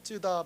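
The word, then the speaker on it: 津田: 다 박사를 만나기 삽니다 발음을 잘해야 됩니다 찌다 박사 합니다 예 2분이 일본에 와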